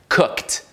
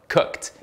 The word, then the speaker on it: cooked: de C vira C esse expulsão de ar esse bafinho de ar produz o som de t Na verdade cooked uma sílaba a palavra toda cooked e mais uma vez não é Cook mesma coisa com played